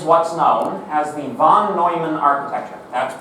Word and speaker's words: Neumann: terms this is what's known as the Von Neumann architecture that's pronounced Neumann even though it's like Jerry you know it's